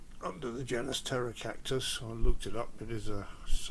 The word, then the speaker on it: Pterocactus: cactus family it's um it's called Terror Cactus because it's got Wing seeds and Terror spelled with a t a p uh means winged in Greek and um it lives